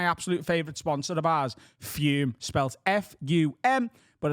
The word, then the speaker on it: Fume: compared to my absolute favorite sponsor of ours fume spells f-u-m but it's pronounced as if there's any on the end